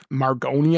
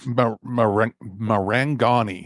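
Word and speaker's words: Marangoni: water surface required for the margoni effect or magoli effect I'm not sure how to pronounce this Mar mangani effect yeah m m a r m a r a n g o n i that's hard even for me as an Italian to look at uh after nailing the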